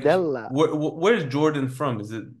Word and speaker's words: Bardella: Jordan Bardello. That's it, right? Am I right in pronouncing Yeah, that?